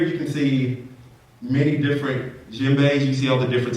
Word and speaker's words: djembe: the djembe, and the D is silent. The djembe.